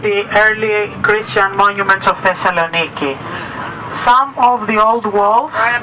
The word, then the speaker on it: Thessaloniki: say that this is thessalonica but of course the correct pronunciation is Thessaloniki and we're hearing that